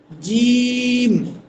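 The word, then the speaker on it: جيم: এখানে এসে একটু পার্থক্য। অর্থাৎ প্রথমে যে আমরা তিনটা হরফ তিনটা হরফ পড়লাম বা তা এগুলো থেকে এক আলিফ লম্বা হবে। কিন্তু আমরা যখন জিমে চলে আসবো তখন কিন্তু এই হরফটা হয়ে যাবে তিন আলিফ।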